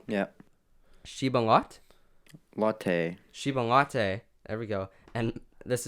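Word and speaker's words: Chiba Lotte: 120 games played before I'm gonna try and pronounce this correct me if I'm wrong yeah she been locked Lotte Shiban Lotte there we go and this is just as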